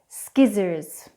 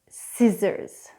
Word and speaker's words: scissors: The most fascinating thing about the silent C is that it tends to be silent in such scintillating sounds as scissors, muscle, science, and yet